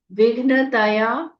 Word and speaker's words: विघ्न: पूरा बोलना है शेष विघ्नया व में छोटी इ की मात्रा आधा घ न पूरा त पूरा विघ्न त ब्रह्म विद्या व में